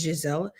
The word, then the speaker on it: Giselle: And Giselle, her name is Giselle. Gazella is a hard G.